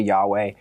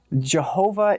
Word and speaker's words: Yahweh: It's traditionally Yahweh. Jehovah is a mispronunciation of Yahweh that the Germans introduced into the language. So he definitely was not called Jehovah. Jehovah is basically a German way of saying Yahweh.